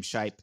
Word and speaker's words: Shipe: Like how you would say my name, Shipe.